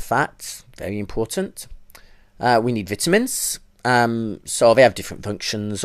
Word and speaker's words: vitamin: ours and say yes the pronunciation is vitamin um but feel free to continue using vitamin okay but we need